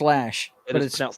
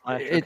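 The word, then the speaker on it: Loesch: It's pronounced Lash. Lash.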